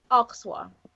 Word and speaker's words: Alsace: how to pronounce it oxa oxa o oxa yeah the r is I mean a French person saying it would be a little throatier with the r but right interesting oh